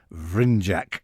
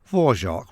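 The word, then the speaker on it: Dvořák: 19th century classical composers, Antonin Dvorak, or possibly Dvorak, but definitely not Vrindjak, as Peter Sellers once pronounced his name. Dvorak we'll stick with.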